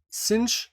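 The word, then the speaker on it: sinh: z + e minus z / 2 and cinch zed this is how they actually pronounce it is equal to e z minus e to the power minus z / 2.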